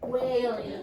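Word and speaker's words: wailing: How do you pronounce this again? Whailing. Whailing. Yes. You remember this? Whales. Like the whales.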